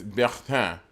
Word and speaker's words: Bertin: Oh, my name is not Burton. It's Bertin. And as my friend, you should call me by the proper pronunciation.